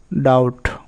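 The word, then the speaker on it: doubt: এক্ষেত্রে বি অনুচ্চারিত থাকে। যেমন ডাউট এখানে বিটি এর উচ্চারণ কি হচ্ছে?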